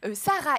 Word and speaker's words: Saraï: la servante c'est l'esclave alors attention moi je dis Saraï il y en a qui prononcent sarï bah itrema je me dis moi il y a un hrema dans mon nom Anaï on dit pas anayas bon chacun le comme le prononce comme il le veut mais moi je dis je vais dire sarï donc agar c'est qui